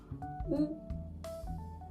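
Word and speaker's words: ㅜ: une barre yo ensuite nous avons ou ou qui se prononce simplement ou comme chez nous de nouveau on va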